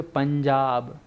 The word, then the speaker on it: पंजाब: जैसे आप लोग सुनेंगे पंजाब, सुने हो नहीं सुने हो? पंजाब लिखते हो पंजाब, लेकिन इसका उच्चारण करूँ ना तो पंज, है ना, धन आब, 5 नदियों का संगम है पंजाब।